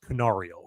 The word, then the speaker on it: Canario: But when the Cubs DFA'd, I believe it's pronounced Canario according to my sources.